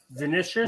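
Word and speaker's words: Vinícius: How do you pronounce it? Vinicius.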